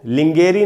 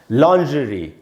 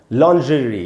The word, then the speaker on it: lingerie: इसमें जो ज है वो जैसे आप श बोलते हैं ना, जैसे शंकर में जो श होता है,